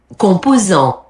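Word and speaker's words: composants: Compos. Compos. Compos. So you don't pronounce n t and s b b b b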